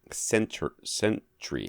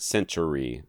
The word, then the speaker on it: Sentry: Sentry. Yeah, Sentry. Not Century. No. Sentry. Sentry. Yeah, Two syllables.